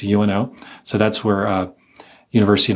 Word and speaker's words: UNO: It's not UNO, it's UNO.